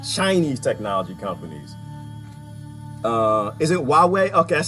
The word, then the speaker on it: Huawei: Huawei, that makes sense.